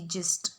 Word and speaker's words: gist: तो वो जी से होता है, पार्ले जी वाला GIST, जिस्ट। ओके, यहाँ पे जी को हमने ज प्रोनाउंस किया है।